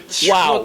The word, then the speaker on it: Chihuahua: En France, TCH. Non, il faut dire Chihuahua. Chihuahua. Non. Elle soit dire mon check. Ah ben c'est même pas là. On va prononcer le TCH.